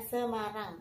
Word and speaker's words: Semarang: Di situ tulisannya Samaronji ya, tapi dibacanya Semarang karena itu nama tempat, tidak boleh dirubah.